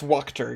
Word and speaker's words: Wachter: Watcher, it's Wachter.